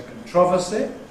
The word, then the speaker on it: controversy: The dotted blue line is ‘controversy’ giving way to .